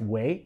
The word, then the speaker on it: guay: But it's really kind of pronounced way.